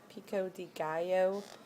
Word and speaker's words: pico de gallo: Yeah, it's gallo, pico de gallo, because the double L is a Y, right?